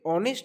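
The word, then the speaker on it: honest: এই যে অনেস্ট উচ্চারণটা উচ্চারণ হচ্ছে।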